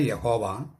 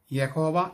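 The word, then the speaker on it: Yahweh: അച്ചോ, ദൈവമായ യഹോവ ഏകനാണെന്നും ഏകാന്തനാണെന്നുമുള്ള യഹൂദന്മാരുടെ ആ വിശ്വാസം തെറ്റിദ്ധാരണയല്ലേ? അതെ, തെറ്റിദ്ധാരണയാണ്. അതിലേക്ക് വരുന്നതിന് മുമ്പ് ഒരു കാര്യം പറയട്ടെ. യഹോവ എന്ന് ഉച്ചരിക്കാൻ പാടില്ല, അത് തെറ്റായ ഉച്ചാരണമാണ്. യാഹ്വേ എന്ന് ഉച്ചരിക്കണം. യാഹ്വേ.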